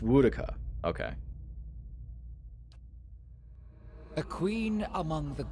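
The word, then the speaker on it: Woedica: So it's pronounced Woodaka.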